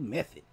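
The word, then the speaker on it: Methyd: It's spelled method, mm-hmm. But it's pronounced meth.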